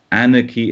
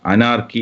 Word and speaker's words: anarchy: ആനർക്കി എന്ന വാക്കിൻ്റെ ഉച്ചാരണം, അനാർക്കി എന്ന് നമ്മൾ സാധാരണ പറയുന്ന സാധനം.